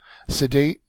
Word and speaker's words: sedate: they are sedating you sedate is a an adjective and also a verb second syllable is accented it means quiet settled